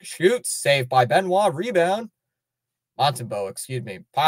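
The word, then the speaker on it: Montembeault: Montembeau makes a big save.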